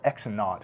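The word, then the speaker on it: x₀: You call it x naught, is how you say it, plus v naught t.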